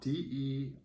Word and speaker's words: derecho: that come from well it comes from spanish and it's the ratio